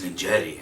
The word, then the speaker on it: Ninjetti: Like I would have pronounced it Ninjet, it ends in an E. And then you're like, no, it's Ninjetti.